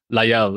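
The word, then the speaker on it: Laguiole: Oh, La Guyole is how it's pronounced.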